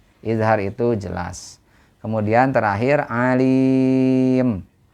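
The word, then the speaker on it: عليم: itu jelas kemudian terakhir Alim Alim itu adalah Mad Arid lisukun panjangnya bisa empat atau en harakat Nah itu ya Jadi dibacanya panjang alim atau lebih panjang lagi Alim Nah itu enam harakat ya demikian untuk tajwidnya dan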